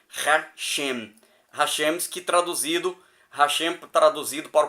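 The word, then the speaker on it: השם: hebraicas, o tetagrama, lê-se Hashem, o nome. Este é o som que recomendamos para leituras públicas e diálogos verbais, pronunciando o Ra como fonema da palavra razão, e o Shem do verbo chegar, uma menção tão leve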